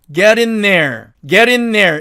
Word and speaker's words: getting there: getting there가 맞는데 이 경우도 자, 어떻게 하느냐면은 get in there 이렇게 발음을 합니다.